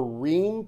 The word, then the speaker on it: Reum: Instagram just look for Rheem pipes or the name Sean Rheem Rheem is spelled r-e-u-m it sounds different than the way it's spelled and his first name